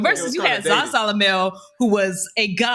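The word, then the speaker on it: Zasalamel: Can we just talk about Zazalamel? That's how you Zaza.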